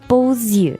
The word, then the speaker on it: beaux yeux: Beau, but because eyes is plural, we say beaux yeux. Yeah. That's the liaison. Because normally the X at the end of beau is silent, but here you have to pronounce it.